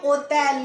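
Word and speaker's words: hôtel: next example है हमारा एच ओटी एल तो इसे पढ़ेंगे हम ओ प हुआ है तो इसको बोलेंगे हम तल क्या बोलेंगे तेल क्योंकि एच यहां पर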